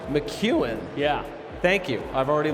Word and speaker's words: McKeown: to be joined by Greg McKeown who's named pronunciation I did not qualify with him before I just said it it's Greg McEwan McEwan yeah thank you I've already learned something and